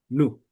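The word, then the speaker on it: ν: Pero como en nuestra mente nosotros lo relacionamos con el sonido V, pensamos a es V, pero no. Entonces, recuerden cuando estamos leyendo griego, esa tiene el valor de n nu.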